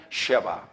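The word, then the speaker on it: שְׁבָא: 그러니까 정확하게 발음은 앞에 거는 세바, 뒤에 거는 쉐바. 다 같이 세바, 쉐바. 예, 그렇게 발음해야 돼요.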